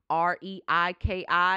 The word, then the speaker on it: Reiki: it to you and when you look at it REI ki you're like Rach he rewrote rekey how do I say that it's Reiki so maybe you just want